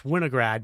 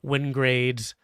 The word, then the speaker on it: Winograd: It's Winograd, but I get a lot of Winograds and a lot of Wingrades.